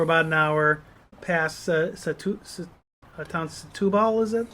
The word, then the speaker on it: Setúbal: the N10 for about an hour past town Setúbal, is that how you say it? Setúbal. Yeah, excuse our Portuguese, but it's Setúbal.